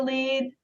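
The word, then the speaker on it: lede: I have a news Outlet called the new lead please encourage people to go look at the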